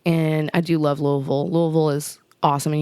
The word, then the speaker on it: Louisville: I do love Louisville Louisville is awesome and you got to say it like that Louisville like you got marbles in around but it was a